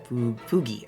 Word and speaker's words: Fugi: Hard G like golf. Fugi, okay.